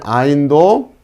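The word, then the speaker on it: עַיִן: 자, 이 아인 같은 경우도 이 뒤에 후음에서 오는 이 발음인데, 자, 이 발음도 흉내내기가 좀 쉽진 않아요. 그래서 음가를 익힐 때는 그냥 아인, 그 목에서 나오는 그 자, 이런 발음이 좀 나오겠구나 라고 생각하시면 돼요.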